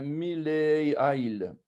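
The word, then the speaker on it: מלעיל: Et on appelle ça un mileail, mileail. Donc, c'est un paroxyton.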